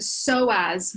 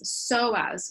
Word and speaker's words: psoas: that this it's the so as muscles that are causing the person to contract forward so as is spelled PS OAS PS OAS so as muscles these muscles run